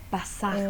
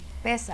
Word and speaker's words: Pesaj: Pasaj, ¿verdad? Pesaj. Pesaj. Pesaj, con el acento en la E. Pesaj.